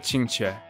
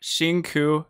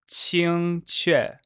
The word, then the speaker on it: Qingque: Not Xingku, not QQ, Qingque.